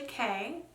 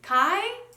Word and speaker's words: Kei: first and middle name so I am Kay and my middle name is spelled in a way in which no one